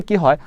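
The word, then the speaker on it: قهوة: বলে গিলথ গিলথ মানে কি আমি বললাম নরমালি কি হয় আঞ্চলিক আরাবিকে শব্দের শেষে সুকুন দিয়ে পড়া হয়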